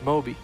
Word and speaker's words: Moi: from their side and we do now know how to pronounce the name of their midlaner it's Moi and I want to shout